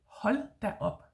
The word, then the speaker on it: hold da op: Hold da op is H-O-L-D, hold, silent D, yeah. Then a new word, da, and then a new word, up. Remember, up in Danish is spelled with an O, yeah.